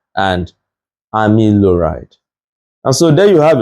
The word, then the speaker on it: amiloride: But if you take your time, you see that it's pronounced as spironolactone and amiloride.